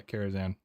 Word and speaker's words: Karazhan: I'm just having my mind blown on things I've mispronounced for my entire life. Oh, Karazhan Library. Yeah, Karazhan.